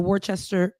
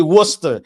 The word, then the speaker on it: Worcester: Ashley Spring, who was a candidate for the Warchester Worchester Bend. And that's your city. You know, it's actually Worcester.